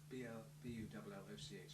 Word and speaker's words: Bulloch: I said, oh, well, I'm proud of my name because it's Scottish, Bulloch, B-U-L-L-O-C-H, so it's Bulloch. I'd love to meet Sandra Bullock because her name is spelt slightly different from mine. It's K rather than H.